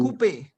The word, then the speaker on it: coupe: OU sound is OO in French. OO. OO. Repeat after me. OO. OO. Two. OO. So we have Two. coupe.